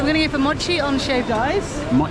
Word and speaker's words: mochi: I've been saying mochi, but the pronunciation is Mochi.